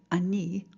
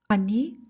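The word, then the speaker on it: אני: just need to say Annie with your name Annie tikva a need of roham I need the hell Annie yeah dad remember Hebrew likes to give the power to that last syllable Annie it's even better if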